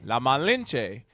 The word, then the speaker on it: La Malinche: La Malinche. How you say it, Yoconda? La Malinche. La Malinche, from gift to sexual contract.